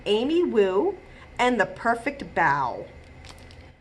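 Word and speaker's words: bao: wu and the perfect bow a bow is not b-o-w like bowing at the end of a show it's spelled b-a-o and it is a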